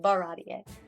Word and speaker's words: Baratie: So one of them ended up at Baratie. You're so close. Baratie. I'm missing a syllable. Baratie.